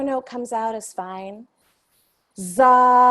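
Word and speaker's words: dza: And this seed syllable is D-Z-A, pronounced za.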